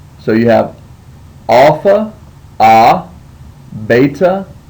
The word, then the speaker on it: beta: letter is beta and beta when you see it in the word it sounds like the b in Bible makes a b sound beta your next letter is